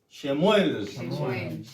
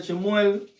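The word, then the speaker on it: שמואל: Que para los hebreos, ¿cómo se dice? Shuel. Amén. Amén. Primera de Samuel o primera de Chemuel, capítulo 4.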